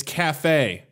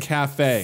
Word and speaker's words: cafe: mom goes no it's cafe it's pronounced a cafe forcefully corrected I was like but it's spelled CAF II it's kaif and she's like it's French I was like whoa